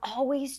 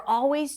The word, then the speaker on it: always: But somehow we're always doing it wrong. A quick tip about the word always. You don't have to pronounce the L sound if it's tricky for you. Always. Just an open a sound.